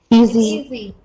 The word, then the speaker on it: easy: s y e easy easy once again it is a z sound it is easy not